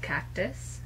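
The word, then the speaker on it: Kactus: It's by a brand called Cactus, but it's spelled with a K.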